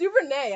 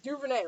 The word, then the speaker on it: DuVernay: do you know doperny it's duper nay i think it's duvernay right i've been saying it wrong then so it's super